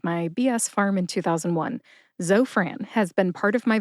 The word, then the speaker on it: Zofran: is short for Francis put both syllables together and you get Zofran emphasize zo see if you can hear the emphasis when I say it again Zofran where did I get